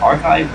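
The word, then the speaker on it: arXiv: Speaking of sources earlier up here, um, so there's a R RX R I'm trying to pronounce it archive RX.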